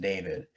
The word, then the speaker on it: D4VD: I never pronounced it David.